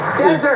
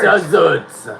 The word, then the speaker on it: desert: foret the answer desert desert emphasize the first syllable of this six-letter word and it's a dry Place emphasize the second syllable of the same word and it means to abandon someone or something well guess who got